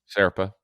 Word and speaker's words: Zerpa: Serpa.